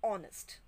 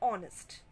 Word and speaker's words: honest: and before are and honest when we pronounce these words h remains silent we use the article